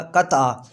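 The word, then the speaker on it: قطعہ: Lecture شروع کرتے ہیں۔ قطع، کتا پڑھنا غلط ہے، کتا پڑھنا غلط ہے، قطع درست تلفظ کیا ہوگا؟ قطع۔ بغیر مطلع کے دو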